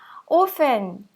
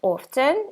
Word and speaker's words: often: Often or often. Здесь допускается два варианта чтения этого слова. Often, often. Для меня проще произносить often. Вы выбираете свой вариант.